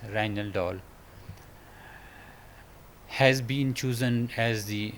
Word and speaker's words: Rijndael: In October 2000, National Institute of Standards and Technology NIST announced that the Rijndael block cipher pronounced as "Rhine doll" has been chosen as the replacement for DES.